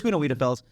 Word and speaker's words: Wiedefels: And there's a follow-up quote in this report from CFO Gunnar Wiedefels? I did look up his name to pronounce it properly, and then I messed it up. But it's Gunnar Wiedefels, saying in regards to